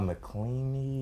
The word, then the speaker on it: McElhenney: But once they went from Watch Dogs Legion, and then they went into Rob McElhenney. Is that how you pronounce it?